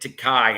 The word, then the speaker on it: Takei: And one of the ones, oh yes, I keep forgetting to pronounce it Takai.